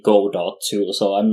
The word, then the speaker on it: Godot: got my own question how do you pronounce this is it go dot engine or godot engine or well i i personally say good old because i feel like the the literary reference is worth keeping the pronunciation as good goal um it's uh i